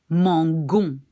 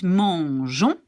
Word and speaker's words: mangeons: So if I didn't have this little E here, I take it away just for a second. Then I should pronounce mangon. Because that's a rule that says you have this letter followed by A-O-U, you pronounce it like G. Mangon. Which is not right because it's the verb manger. So to keep it mangeons, we put this extra E.